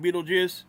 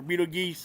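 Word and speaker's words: Betelgeuse: Yesterday, Stereo spent two hours observing Beetlejuice or Beetle Geese or what? I think it's Beetlejuice is how you say that.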